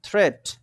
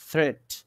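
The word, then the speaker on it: threat: আসছে এটাকে কেটে দিলাম এরপরে দেখেন থ্রেড চলে আসছে কেটে দিছি আসা যাবে না থ্রেট এই যে থ্রেট তাহলে বোঝা গেল মিট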